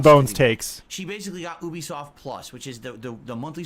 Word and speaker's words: Ubisoft: It's pronounced Ubisoft, by the way.